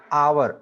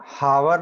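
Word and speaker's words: hour: एन आवर, हावर नहीं बोलते हैं उसको, होवुर भी नहीं बोलते हैं उसको, आवर बोलते हैं, आवर, एच साइलेंट रहता है वहां पे, उसके आगे हम लगा देते हैं एन।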